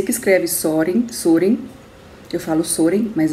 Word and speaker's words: Søren: Eu sei que escreve Søren, eu falo Søren, mas é Søren, e o Kierkegaard. Eu vou deixar aqui, aparecendo aqui, como o livro apresenta a pronúncia correta, Kierkegaard.